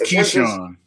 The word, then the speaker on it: Keyshawn: does and Keisha and I've been pronouncing your name the wrong way and you didn't say anything until I hear you say no it's Keyshawn okay okay um scientist